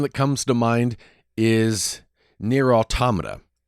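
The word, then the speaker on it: NieR:Automata: I always say near Automa, but then as I listen to my friends in the UK who stream and they play it, they pronounce it near automata. And I kind of like that way better.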